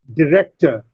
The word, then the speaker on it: director: Similarly, develop, director, rect is stressed. The second syllable is stressed.